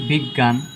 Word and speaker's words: বিজ্ঞান: দেখি আমরা বিজ্ঞান, বিজ্ঞান আ উচ্চারণ হয় না এখানে, বিজ্ঞান আ, বিজ্ঞান। তাই আমরা কি দিয়েছি?